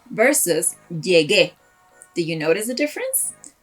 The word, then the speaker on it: llegué: Siempre que veas una tilde en español, just stress that syllable. For example, llegue versus llegué.